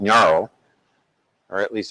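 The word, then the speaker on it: Ngaro: this virtual machine called Naro or at least I think that's pronounced Naro and that's how it's spelled there NG g a r o um and the idea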